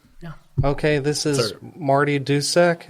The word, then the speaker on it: Dusek: Okay, this is Marty Dusek. Is that how you say your last name? Yeah, that was well done. Marty Dusek.